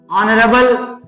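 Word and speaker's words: honourable: इसी तरह से एन ऑनरेबल person N ऑनरेबल person एक सम्मानित व्यक्ति तो यहां पे ऑनरेबल ऑनरेबल लिखा हुआ है लेकिन एच को साइलेंट करते हुए अ की आवाज आएगी तो अ क्योंकि हिंदी में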